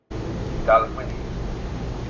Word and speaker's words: Dalwhinnie: I have a pro who's going to pronounce it for you. 1 second. Dalwhinnie.